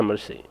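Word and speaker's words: Mercy: الشخصيه اللي بعدها ميرسي ميرسي اوناس مسميه مكري بس هي النطق الصحيح حقها مرسي عندها سلاحين عندها بستل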